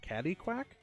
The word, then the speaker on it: Catquack: Yeah, we're playing as a catquack. I didn't know that's how you spelled it. I always heard it's pronounced as a caddyquack.